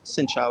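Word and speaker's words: xin chào: Xin chao is how you say hello.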